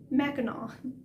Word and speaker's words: Mackinac: that's not in michigan yes that is the correct pronunciation mackinac the sea is silent